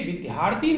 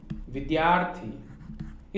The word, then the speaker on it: विद्यार्थी: इसमें ये दिया है छात्रों, ये ध्यान रखना है, इसका उच्चारण सही ढंग से होना चाहिए। ये विद्यार्थी नहीं है, ये क्या है, विद्यार्थी।